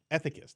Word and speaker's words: ethicist: prominent ai at this uh can i never pronounce it a thick atheist ah ethics i've never even heard this word ethic ist ethicist there we go ethicist uh from ghouls she